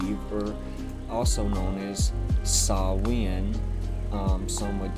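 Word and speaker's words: Samhain: All Saints and you were also known as saw win um some would say that it's pronounced salahane but it's a different culture and language so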